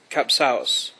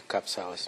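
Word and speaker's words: Kapsaos: mr president i think the word should be cups house mr president you're on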